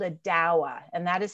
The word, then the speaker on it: dawa: And the cocktail of Kenya is called a dawa, and that is spelled D-A-W-A.